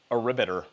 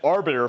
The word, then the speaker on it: Arbiter: So, I almost said aribbiter and a lot of other phrases where I didn't know how to pronounce it right because I only read it. I never heard it actually said.